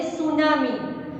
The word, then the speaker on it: tsunami: सुनामी के spelling T से start होता है, पर हम जब उसका प्रोनाउंसिएशन करते हैं तब हम टी को नहीं बोलते, that means T is silent here, हम बोलते हैं सुनामी।